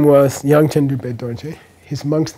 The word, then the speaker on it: Dorje: So you don't say dorje, you say dorje.